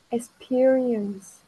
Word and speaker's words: experience: experience, Ừ, cái này e thôi nha. peer, Thấy không? Nó là ear này. E ơi ear. experience, Ear ear.